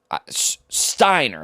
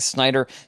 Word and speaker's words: Steiner: name correctly here uh Steiner sorry I think I've been saying Snider Brandon Steiner Steiner sorry this is like